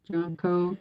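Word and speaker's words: junco: then those um junkos i think it's pronounced johnco j-u-n-c-o they go up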